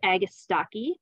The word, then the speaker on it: agastache: Our next perennial is hyssop, also known as agastache. That's how I pronounce it.